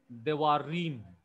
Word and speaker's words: Devarim: For example, see the stress of my word. Devarim. Devarim. So that rim gets the stress.